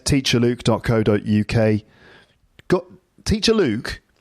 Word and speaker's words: Luke: Luke, that's Luke. Right? Not look, not luck, not like, or anything else. And I've said that before too, but I have to keep saying it because people always get my name wrong. It's Luke, Luke, like Luke Skywalker from Star Wars.